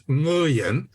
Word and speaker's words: Nguyen: The way I learned it was the NG sound is the last words in the pronunciation in the word sing, S-I-N-G. So it's Nguyen. However, they have anglicized it in American to just say Nguyen because most people cannot